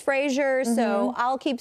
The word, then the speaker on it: Fraser: on there saying that his last name is actually pronounced Fraser rhymes with razor.